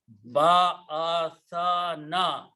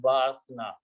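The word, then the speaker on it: بَعَثَنَا: There is a fatah on the letter tha. So pronounce ba'athana. Make sure you pronounce these three fatahs separately. If you did rush in the pronunciation, and people do mistake, if you pronounce quickly, it will sound like ba'athna.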